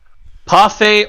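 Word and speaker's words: パフェ: that is the pronounce the proper way to pronounce parfait uh pafe or parife depending on how you uh want to say it in in Japanese due to how they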